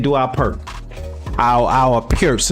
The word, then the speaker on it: Pirc: Our our pierce. It's called, it's pronounced pier. Um, a lot of Americans call it perk.